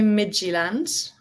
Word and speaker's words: Midtjylland: FC Midtjylland, which I probably butchered the translation, but it's FC and then MID, like the beginning of midfield, TJYLLAND. So think of it as Midland, like midfield land.